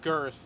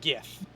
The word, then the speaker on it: Girth: the wastelands of Girth. Sorry, it's pronounced the wastelands of Gith. The R is silent.